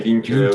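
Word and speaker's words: LINQ: en fait mes côtés de ces vidéos se prononcer linke ouais ça quand tu fais pantin tri sur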